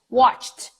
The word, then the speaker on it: watched: So I see a lot of people mispronouncing it like that, overpronouncing, saying, for example, work it, help it, punish it, when in fact the e is not mentioned.